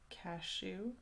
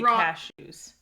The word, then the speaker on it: cashew: just pronounce that nut cashew okay you place the emphasis on the second syllable yes you say cashews but i see cashews